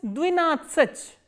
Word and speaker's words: двенадцать: 2 is двенадцать. 13 is тринадцать. Please pay attention to the stress. Here stress is on E in Ajin, here the stress is on A in Natsach, and here again the stress is on A.